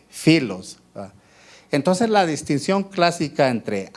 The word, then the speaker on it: filos: Pero en el Nuevo Testamento solo aparece la palabra ágape y filos, o pilos, como se escribe P-H-I-L-O-S, filos.